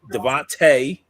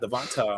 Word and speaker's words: DeVonta: it out there now if devonte not devonta i'm sorry i'm just thinking i just think peace is trolling now and devonte if he if he's watching i think he's legit how he pronounces it i said if